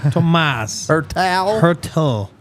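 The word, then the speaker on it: Tomáš Hertl: Tomas Hertel.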